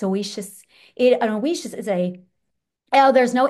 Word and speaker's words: Ousia: I got to get this word pronunciation. I just found it and I need to learn how to. It's oasis.